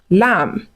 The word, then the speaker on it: lamb: So when words end with M and B, focus on the M, ignore the B.